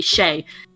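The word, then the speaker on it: Skjei: player on the rangers his name is brady shea s-k-j-e-i shelly so yes uh savara and shelley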